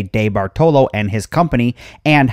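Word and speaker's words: DeBartolo: and Associates Museum now I've heard his name pronounced a number of ways debartlo de bartello and many others but I believe the name has Italian orig so we're going to go with de Baro Edward de Baro was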